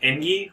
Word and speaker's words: Engi: The missile launcher that comes with the Kessel consumes missiles, and the Engi ship, I assume it's pronounced Engi myself, because they get a